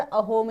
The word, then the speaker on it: असम: असम बना ठीक है यहां के निवासी इसका उच्चारण अहोम ही करते हैं यानी जो असम के